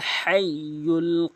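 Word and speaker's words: الحي: আল হাইুল কাইম। এখানে মারাত্মক লেভেলের দুটি ভুল করে থাকে। একটি হচ্ছে হাইয়ুল বলে। ছোট হাইনে উচ্চারণ করে।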